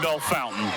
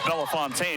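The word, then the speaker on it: Bellefontaine: Christian High School in Bell Fountain or as Bell Fontaine if you spell it out how a monster quarter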